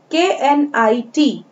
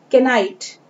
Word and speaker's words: knit: Then KNIT. The first letter is K, but the K is silent here. K यहाँ पर शांत है और इसे हम पढ़ेंगे knit, ना कि kenite.